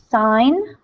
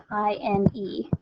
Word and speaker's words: sine: The first 3 trig functions are sine, which we abbreviate with SIN, okay? The full word is SINE, okay? So when you see this abbreviation, it's pronounced sine, not sin, okay?